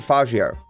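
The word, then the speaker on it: Faggio: said as a slur, because it's spelled F-A-G-G-I-O, and you could say that differently, but I pronounce it Fagio.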